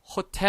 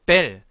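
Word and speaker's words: hotel: 발언이 여러분 무궁 이에요 발음을 하지 않는 묵음 입니다 자 그래서 자 아 에 이 오 우 를 합치면 이렇게 하 해 히 호 후가 아니라 아에 이 oo 발음이 날 거예요 자 다같이 한번 따라 해 볼게요 아예 이 oo 씨 작 그렇습니다 자 묵음 이기 때문에 발음 하지 않습니다 그럼 어떻게 발음인 할까요 요 단어는 호텔 에어 2 아니라 그렇습니다 5 뗄 이라고 발음합니다 모델 이라고 발음하지 조 그리고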